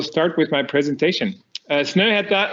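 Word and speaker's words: Snøhetta: with my presentation uh snowhead that's the how you pronounce the name of our company and uh uh sneta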